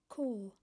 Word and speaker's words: Corps: limited this is wrong c-o-r-p-s is pronounced core a french word meaning military group it's a play on